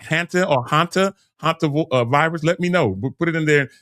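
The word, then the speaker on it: hantavirus: It's pronounced hanta virus.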